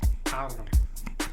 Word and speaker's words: Carlos: Gotta roll your R's. Carlos.